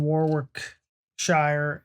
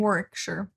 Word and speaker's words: Warwickshire: I think she's in Warwickshire because I know she didn't pronounce the second W.